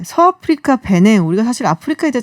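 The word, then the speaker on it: Bénin: 아, 그래서 전 베닌이라고 사실은 들었어요. 베냉. 네, 베냉이라고 이제 이 프랑스 나라의 이제 푼족이라고 네. 그 언어로는 조금 더 발음이 베냉에 베냉에 가깝더라고요.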